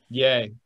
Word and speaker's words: Ye: West yay I guess is it Yi is that how you pronounce it yi yay there you go okay well it's a